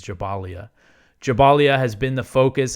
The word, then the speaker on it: Jabalia: quote so jabalia or I I was saying jabalia for a long time but I believe the proper pronunciation is jabalia jabalia has been the